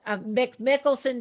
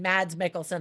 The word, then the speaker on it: Mads Mikkelsen: Now, there are some people who say that Mick Mickelson does a much better job. I don't know. I mean, Mads Mikkelsen, I said his name wrong.